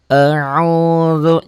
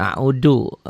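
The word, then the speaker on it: أعوذ: A'udzu, jangan a'udu. Kita kebanyakan orang Sunda tuh a'udu ya, terlalu rapuh.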